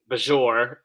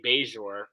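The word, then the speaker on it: Bajor: I love the way he says Bajour when welcome to Bajour. I was like, "Ah, no, that's quite not quite right." But then later on with at the end of the episode, he does say beure.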